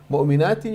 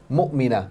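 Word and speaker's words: مؤمنة: Mu'minatin, you're making it plural, and here is only single. Mu'mina, not mu'minat. Okay, there's a difference between mu'mina and mu'minat. The letter dad, dalla, no dalla.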